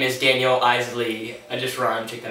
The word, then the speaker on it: Eisele: my name is Daniel isy emphasis on the Isley because I know it's kind of like hard to pronounce so just to be like Frank e i s e l e my name is Daniel